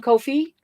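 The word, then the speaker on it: Ko-fi: that it is spelled Kofi I mean it's pronounced Kofi fi isn't it fi yes I said I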